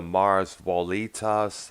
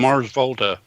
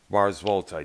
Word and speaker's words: Mars Volta: The Mars Volitas. I've had trouble Oh, pronouncing. Mars Volta. Mars Volta.